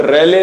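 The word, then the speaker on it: Rayleigh: और यहीं पर बच्चे एक लॉ है एंड इट is called रेले law, this is the spelling, so एल ई आई जी एच, रेलेज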